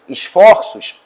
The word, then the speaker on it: esforços: O timbre fechado desse O, esse O, né, no singular, vai tornar-se O, vai tornar-se aberto no plural.